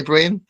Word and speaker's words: Brian: I think, Brian, we should move on from pronunciations. Okay, Brian? No, it's Brian, like Brine, Brian.